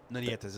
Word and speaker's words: Nietes: Nietes, that's how you say it, yes.